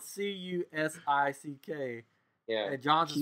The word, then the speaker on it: Cusick: Henry's last name is spelled Cusick. Yeah. And John's is spelled Cusack. One sick and one's a sack.